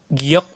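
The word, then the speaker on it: 기역: ini silakan yang itu giok di awal G di akhir k betul yang sampingnya itu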